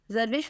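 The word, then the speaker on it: Zarwish: एच, जारविश Fatima.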